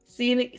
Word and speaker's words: zine: Zen Z I N E O Zen.